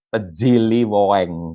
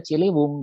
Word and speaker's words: Ciliwung: Kalau sekarang dibaca Tejiliweng kalau anak sekarang yang harus baca. Padahal ini dibacanya Ciliwung gitu ya, Ciliwung.